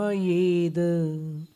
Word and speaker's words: मयेद: मत्वेति नाथ तव संस्तवनम मयेद। देखिएगा इसमें मयेद, य का उच्चारण सावधानी से करना है, मयेद हो जाता है।